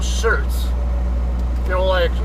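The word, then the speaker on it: Schertz: Apparently she lives in the town that she call, that I guess the locals call Shirts. Like t-shirt type of shirts, but it's spelled S-C-H-E-R-T-Z or something like that.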